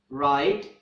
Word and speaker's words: write: we have is W whenever the letter W is followed by the letter R at the beginning of a word W will be silent for example write rap rap breathe wrench